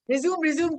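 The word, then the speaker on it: résumé: रिज्यूम की जा रही हूँ, बोली जा रही हूँ. तो किसने पढ़ा है? संजना मैम ने पढ़ा है. रिज्यूम. करेक्ट प्रोनाउंसिएशन है रिज्यूमे.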